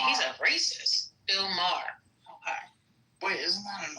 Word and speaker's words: Maher: Moyer. Saying he's a racist. Bill Maher.